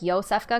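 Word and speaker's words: Iosefka: it's kind of cool yosefka is a slavic origin name normally spelled with j uh like joe like yo safka because that's phonetics but um they spelled it with an i probably to not confuse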